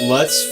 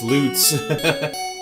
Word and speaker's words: Lutz: I pronounced that lutz for like the first 20 years that I was into Fantasy Star. Somebody online said, "No, no, no, no, no. It's loots."